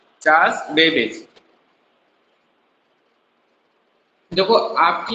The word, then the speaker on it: Charles: चलो ठीक है, कोई बात नहीं, स्पेलिंग आपकी मिस्टेक्स हैं, बट चार्ल्स बेबेज होता है, ठीक है।